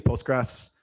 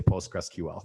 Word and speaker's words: PostgreSQL: business um most people most engineering managers even don't agree on how to say this um i say postgres i definitely hear hiring managers who've been in the game 20 years say postgresql like it is a thing so um